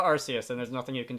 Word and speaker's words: Arceus: get people informing me the canonical pronunciation is Argus I call it arus and there's nothing you